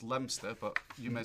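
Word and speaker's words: Leominster: Um Ash Leah um in the UK this is pronounced Lemster but you may say Leo Minster and it's in Massachusetts.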